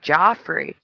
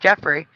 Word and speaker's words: Geoff: Myself, when I saw the GEOFF, I thought that was Joffrey, not Jeffrey. I thought that was a different name. I thought you pronounced it Joffrey, but apparently, according to Toys R Us, it's also pronounced Jeffrey.